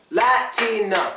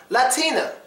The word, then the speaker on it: Latina: word is actually pronounced Latina she's a Latina it is not silent because the last syllable is a and not 10 so